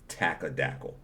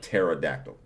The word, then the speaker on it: pterodactyl: Me and my daughter Minnows were trying to get my aunt to stop saying tackadackle instead of pterodactyl.